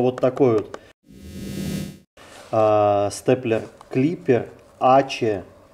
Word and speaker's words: ACE: Если кто не знает, как правильно, то читается правильно Ачи. Не АС, не АСЭ, а Ачи.